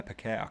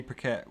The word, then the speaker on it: Paquette: saw i was watching her rene uh pacquiao camera mispronounced the name but uh rene paquette was doing a you